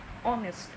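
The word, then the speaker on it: honest: एच जो है ये कॉन्सोनेंट है, we know it very well, but हम जब इसको प्रोनाउंस करेंगे तो ये कैसे जाएगा? ऑनेस्ट.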